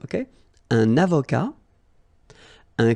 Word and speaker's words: avocat: Un avocat, so remember, liaison here, and then final T not pronounced, okay? Un avocat.